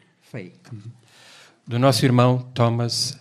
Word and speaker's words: Fahy: By the way, how do you pronounce? Fay. Do nosso irmão Thomas Fay.